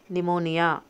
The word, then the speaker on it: pneumonia: t Don w knowledge okay pneumonia p White H chalk l